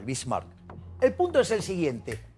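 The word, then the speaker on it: Bismarck: señor que llamaba ot Bin Mark sí lo pronuncié mal bismark el punto es el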